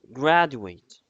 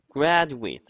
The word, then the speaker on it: graduate: Then, after the education process at school, here we have the word graduate. Graduate. And be careful that the word graduate, it works as a noun if we pronounce it like that.